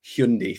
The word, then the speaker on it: Hyundai: There may be a Hyundai for you, which is the correct pronunciation as they have informed us.